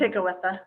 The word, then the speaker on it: Tekakwitha: Dorothy Day, the Native American Kateri Tekakwitha. I don't know how. That K shouldn't be there. I don't know how you say it. It's Tekakwitha.